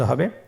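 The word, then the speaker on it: ح: হা হরফটি কিভাবে উচ্চারিত হবে? হা হরফটি উচ্চারিত হবে কন্ঠনালীর মধ্যখান হতে।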